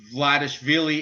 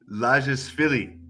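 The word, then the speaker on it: Lazishvili: have no idea about Vladishvili. It's not even Vladishvili. What's his name? Oh man, you're me. Okay, Yeah. Zviad. So Zviad Lashvili.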